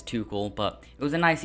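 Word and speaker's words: Tuchel: always pronounce it wrong i always pronounce too shell but it is too cool but it was a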